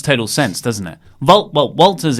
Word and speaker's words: Walter: Well, Walter's easy because in Austrian, in Austria, you sort of pronounce W's as V's. Yes. Like Wim Wenders and Wagner.